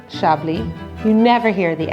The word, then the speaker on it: Chablis: Chablis. The S is silent in Chablis, and it is always pronounced Chablis.